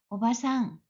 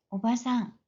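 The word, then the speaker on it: おばさん: 오바상 좀 길게 발음합니다 하지만 이모 승모 외승모 등을 발음할 때는 짧게 하셔야 됩니다 오바상 오바상 마찬가지로 삼촌 숙부 외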